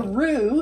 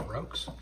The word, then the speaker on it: roux: It's not pronounced Roux. It is spelled R-O-U-X. They didn't need to know that. Pronounced roux, yes.